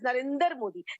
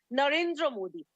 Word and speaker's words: Narendra Modi: your show he precisely he pronounced es our honorable PM's name as Narendra Modi please tell him the name is Narendra Modi in case he doesn't